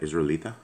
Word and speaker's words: Israelita: Israelita?